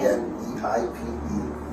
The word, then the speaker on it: Kneipe: K-N-E-I-P-E.